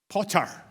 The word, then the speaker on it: Potter: We pronounce our t's in this country. Potter.